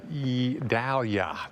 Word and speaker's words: Idalia: list this one with the eye it's a E Dahlia that's how you pronounce that and get used to that name